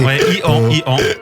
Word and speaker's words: EO: Alors, je sais pas comment le prononcer. Et En fait, c'est Ian.